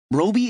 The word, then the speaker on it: Roby: Roby is pronounced so that it rhymes with Toby, just so you know.